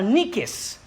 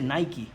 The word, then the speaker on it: Nike: Qué palabra es esa es la palabra niques de ahí viene la marca de zapatos nique hermano se dice Nike como se diga es